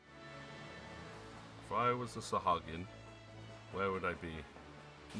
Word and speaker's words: Sahagin: I know how people pronounce it differently, but I will always pronounce it Sahagin.